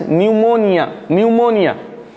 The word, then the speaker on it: pneumonia: Another word is pneumonia. Pneumonia, here P is silent. Here P is the silent letter.